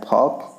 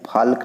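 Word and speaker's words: folk: चाक, चाक में L silent है, चाक के साथ लिखा है फॉक, फॉक में एल देखिए यहाँ भी साइलेंट है। फाल्क नहीं, चाल्क नहीं पढ़ रहा है, इसको फॉक चौक पढ़ रहा है।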